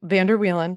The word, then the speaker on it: Vander Wielen: Yes, my last name, Vander Wielen. That's how you say it.